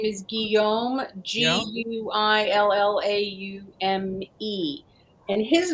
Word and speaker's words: Guillaume: full qua f-u-l-c-o-i-s and the first name is Guillaume g-u-i-l-l-a-u-m-e and his name was on the back